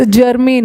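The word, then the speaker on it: germane: Sorry, कोई भी चीज़ जर्मीन है। ये जर्मन वो जर्मनी के लोग वाला मत समझ लेना, उसका स्पेलिंग GERMAN नहीं होता, और ये तो जर्मीन है, इसका मतलब है उपयुक्त, संबंधित।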